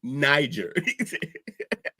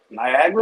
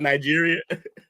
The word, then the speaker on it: Niger: And Jake, it's pronounced Niger. Niagara. Like Nigeria.